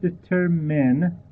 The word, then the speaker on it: determine: word determine please uh pay attention to the correct pronunciation it is the term men we don't say i uh so the term men men and uh many many students unfortunately mispronounce this word the the word determine